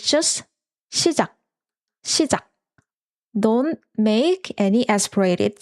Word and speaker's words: 시작: And note that when a word ends with 기억, its romanization is K ending, but actually we don't make the K sound at the end, but we make a stopping sound.